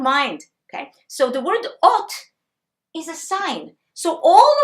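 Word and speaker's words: אות: Ot. Okay? This is this. And in English, you pronounce it O-N-T.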